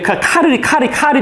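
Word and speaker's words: Karl: 이게 이제 불어로는 샤를이고, 그죠? 독일어로는 이제 칼이 됩니다. 발음이.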